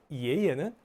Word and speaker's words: 爷爷: 예예는 할아버지입니다. 예, 예예, 이예, 이예 이렇게 이성경성으로 발음해요.